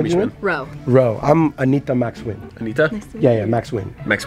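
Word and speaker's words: Anita Max Wynn: I'm Anita Max Win.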